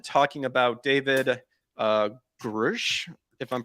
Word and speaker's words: Grusch: Friend and I did episode 1 talking about David Grusch, if I'm pronouncing it, Yeah. Grusch.